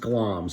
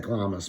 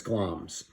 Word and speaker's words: Glamis: play, he's the thane of, that word is pronounced Glamis. It looks like Glamis, but it's Glamis.